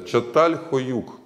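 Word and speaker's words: Çatalhöyük: Но чем же славится это место, Чаталхёюк ? В Турции это произносится именно так .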